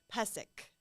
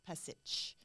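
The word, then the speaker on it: Pešić: lot of those people the the sea at the end of all their last names is actually pronounced so I know because everyone's like oh pessic but it's not it's passage right so I don't know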